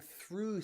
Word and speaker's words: through: through as in going through something through ends in gh and the gh is silent though even though or although okay both end in gh again but it is silent so remember sometimes gh